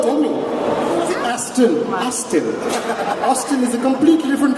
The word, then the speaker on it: Aston: Pronounce it properly. What is it called? Tell me. Aston.